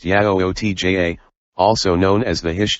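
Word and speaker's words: Yautja: just check the movie out the yautjia people pronounced yayo tja also known as the hish chu ten or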